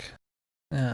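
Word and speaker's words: Psync: The P is silent. Sync. Yeah, I know it is, for fuck's sake.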